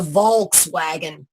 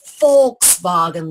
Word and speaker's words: Volkswagen: America they called the vog swagon but in the Dutch or Germanic languages it's called a Volkswagen the V pronounced as an F so here we have